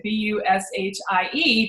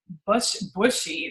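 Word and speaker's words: Bushie: way we spelt it, B-U-S-H-I-E, but when you see that, you think bushy, like trees and branches and all that. And I wanted to make sure that people at least knew that we pronounced it Bushi.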